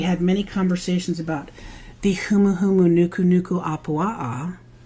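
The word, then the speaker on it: humuhumunukunukuāpuaʻa: one which we had many conversations about the humuhumu Nuku Nuku AAA correct pronunciation by the way uh which is the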